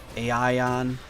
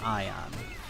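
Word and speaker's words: Aion: on friends ion aeon how do you pronounce that game a ion i have no idea i believe it's ion i'm probably pronouncing it wrong but if you want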